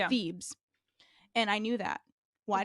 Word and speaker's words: Thebes: because there's the city of Thebes right it's Thebes and I knew that why did I know the steps no they were saying phoebees and that's how it was read and nobody